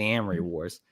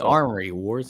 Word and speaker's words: Amory Wars: band the story is the Amry Wars yeah a lot of people called The Armory Wars it's not what it is I don't know how to pronounce it no you got it right you got it right you had it correct I'm saying a lot of people say the Armory Wars well it doesn't it